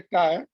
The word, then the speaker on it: chi: Gamma के symbol होते हैं, this is also pronounced as a chi, which is nothing but a susceptibility.